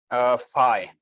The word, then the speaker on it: Phi: How do you pronounce that symbol? Phi.